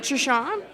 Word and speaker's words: Truchon: that you're here, Mike Truchon. Is that how you say your last name? Truchon. Yep. Truchon. You said it right. It's French, actually.